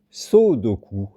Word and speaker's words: sodoku: Bon, et il est bizarre à prononcer, c'est le sodoku, S-O-D-O-K-U, qui n'a aucun rapport avec le sudoku.